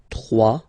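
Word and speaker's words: trois: 3, final S not pronounced, 3.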